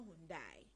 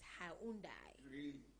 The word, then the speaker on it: Hyundai: wrong all this time it is not mundai but it is hyundai well ha has presented